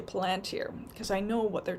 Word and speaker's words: Palantir: First Amendment, is with Palantir, or, they're saying it's pronounced Palantir, but, me being a Lord of the Rings fan, I say Palantir, because I know what they're trying to do.